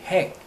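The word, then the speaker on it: hag: 그 다음에 HH, 핵, HH, 이것도 학이라고 읽지 않고 핵이라고 씁니다.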